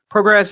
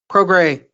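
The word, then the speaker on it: Prograis: But Progress versus Taylor, Andrew, unification. Progray. I don't think you pronounce the S, as my friend keeps I'm sure it's telling me from Louisiana.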